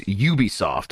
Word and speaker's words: Ubisoft: pronounce it so it's Ubisoft with like CU It's like got that Y sound and sometimes Sada I